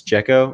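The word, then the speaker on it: Jecho: Um, it's Jekko, right? Adam Yeah. Jekko is how you pronounce his name.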